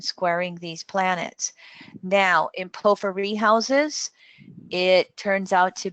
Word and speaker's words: porphyry: I don't know how you pronounce it exactly. That's it's porphyry.